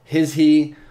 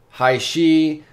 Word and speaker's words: HISHE: you guys can see some people call it his he or hi she or hi because you know the EU might be silent whatever the case I always pronounce that hi she so that's how I'm going to continue pronouncing it I think it sounds the best in my opinion a